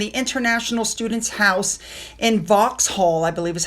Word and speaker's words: Vauxhall: As patron of the International Students' House, she officially opened the International Students' House in Vauxhall, I believe is how you pronounce it.